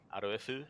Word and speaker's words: RoF_UU: Aroefu is how they pronounce it in Asia, so I thought, why not pay a homage to that?